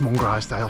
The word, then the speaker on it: Mungrisdale: zoo blind Catherine today just parked up in one grisdale which I'm always tempted to pronounce as long as they'll uh when I'm assured but locally it's pronounced Mongrel style so I'll try my best to uh to